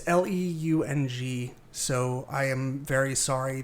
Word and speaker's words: Leung: There's Simu Liu as Shang-Chi and Tony, I want to say Lung, but it's Leung, so I am very sorry that I can't pronounce that.